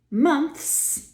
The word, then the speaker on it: months: mouths something interesting happens months is unsurprising months we just add a voiceless afterwards it can be a bit tricky to squeeze the air and then pull the tongue inside keeping the hissing going but if you want